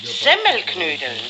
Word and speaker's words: Semmelknödel: selten nein gleich okay richtig muss es eigentlich heißen semmelknödel die semmel muss man dabei betonen weil durch die kinder